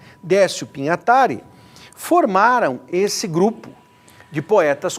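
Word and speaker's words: Pignatari: Haroldo, é claro, e o mais relevante, Décio Pinhatari, e essa é a pronúncia correta. Pinhatari. Décio Pinhatari, formaram esse grupo de poetas concretistas, que queriam o quê?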